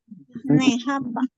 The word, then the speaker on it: Nejapa: Y resulta que los españoles no podían pronunciar la SH. Entonces, ¿cómo lo dijeron? Nejapa. Nejapa, vea.